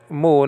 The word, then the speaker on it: mu: omega with the circumflex mu nowadays called me sometimes pronounced mu also and alpha soma apart